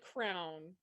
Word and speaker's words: crayon: Sounds like crown. I don't. None of these make sense except crayon to me, which would be the two syllables where the second syllable rhymes Yeah. with dawn.